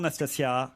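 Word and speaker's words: Nastassja: Bonjour Nastasia. Bonjour. Je prononce bien votre prénom?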